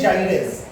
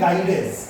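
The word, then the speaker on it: gyrase: হ্যাঁ স্যার আচ্ছা, কেউ কেউ এটাকে বলে থাকে ডিএনএ গাইরেজ, ঠিক আছে? কিন্তু অ্যাকচুয়াল প্রোনাউন্সিয়েশন তুমি যদি করতে চাও, অ্যাকচুয়াল প্রোনাউন্সিয়েশন সেটা হচ্ছে ডিএনএ জাইরেজ, ইট ইজ নট ডিএনএ গাইরেজ।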